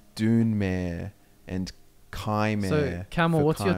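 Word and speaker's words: Dunmer: this or something and he was saying how to pronounce things and it's saying like zlamar is like dwayne i've already seen that don't get me started done doner is dunemere and kymon camel what's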